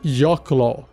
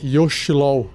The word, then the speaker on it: Yochlol: do cast de hoje se chama yok lol y o c h l o l você também poderia falar yos lol mas em inglês o pessoal pronuncia yl bom o que parece